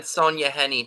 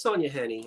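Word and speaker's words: Sonja Henie: said you wanted it somebody else said Sonja Henny too sorry no it's Sonia Henny I say it wrong poodle I'm sending you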